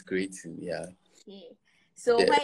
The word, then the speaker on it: Kcreietin: Am I getting the pronunciation right? Yeah, it's Kcreietin, yeah.